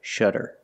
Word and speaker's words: shutter: at this word shutter it's pronounced exactly the same but it's spelled differently it has a Double T but it makes the same sound the fast D sound sha shutter shutter shutter is a